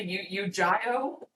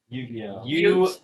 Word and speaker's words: Yu-Gi-Oh!: You Gio? Yu-Gi-Oh! Yu-Gi-Oh! You somehow made your first pronunciation even worse.